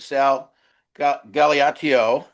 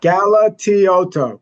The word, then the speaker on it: Galatioto: Sal, I think we have an extra syllable in there we got to work on, you know? Galatioto. You can do it.